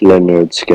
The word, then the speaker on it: Lynyrd Skynyrd: your favorite little scared album pronounced Leonard skin you